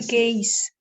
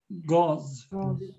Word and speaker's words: gauze: It's a gaze. Gauze. Yeah, I think the right pronunciation is gauze.